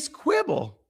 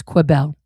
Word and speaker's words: Quibel: sudden, out of nowhere, Ree Quibble shows up. It's Quibel. And you know that cuz you read her voicemail out where she tells you how to pronounce it.